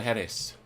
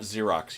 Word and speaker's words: Jerez: pronounce this rocks okay my guess lanceros de jerez and it is not Xerox you take that back